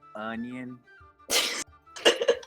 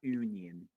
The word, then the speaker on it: onion: It's onion, not union.